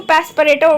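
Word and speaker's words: Passepartout: मैन my name इ gene पस परेटो इसको पस परेटो बोलते हैं पपो पपो प्रोनाउंस एट जोन पस पर्टो सो ठीक है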